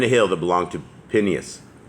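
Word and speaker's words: Phinehas: hill that belonged to pineas pineos is how that's actually pronounced his son which was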